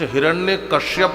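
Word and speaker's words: हिरण्यकशिपु: कुछ हिरण्य कश्यप कहते हैं। कुछ हिरण्य कश्यप कहते हैं। कुछ हिरण्या कश्यप कहते हैं। जबकि नाम क्या है? हिरण्य कश्यप। शुद्ध नाम है हिरण्यकश्यप।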